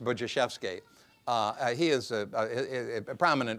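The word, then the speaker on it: Budziszewski: may have run across it's a Polish name it's it's it's spelled Bud zis Zusi pronounced buvi uh he is a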